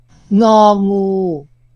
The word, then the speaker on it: งองู: งองู Ça correspond au ñ de ping dans ping-pong. Faites bien attention de ne pas prononcer le G final.